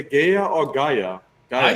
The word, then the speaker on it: Gaea: And Chop says that Dax pronounces it Gaia, so hey.